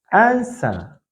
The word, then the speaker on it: answer: in the word answer W is not pronounced in the word answer answer W is not pronounced